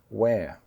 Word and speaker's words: we're: And another contraction to demonstrate that is the word W-E- apostrophe-R-E "we're". It's the same pronunciation as what do you "wear" to school or "where" are you?